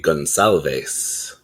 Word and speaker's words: Gonçalves: Yeah, I think that is a Portuguese pronunciation. It's going to be Gonçalves.